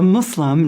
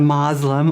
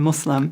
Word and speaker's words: Muslim: does the practice yeah so a Muslim not a Muslim or we also a different pronunciations but the most correct is Islam and Muslim Muslim yeah